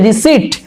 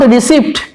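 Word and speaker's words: receipt: সেই রসিদের ইংরেজি হচ্ছে রিসিট, নট রিসিপ্ট। প উচ্চারণ হবে না, উচ্চারণটা হবে রিসিট, অর্থাৎ পিটাকে তুলে দিতে হবে উচ্চারণের সময়, রিসিট।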